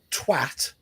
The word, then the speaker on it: twat: It is not an O sound, Americans. Let's be honest, it's third grade reading level. Come on, guys. Yeah, I mean, if you've got a dictionary that's saying it's pronounced anything differently to twat, then your dictionary is wrong.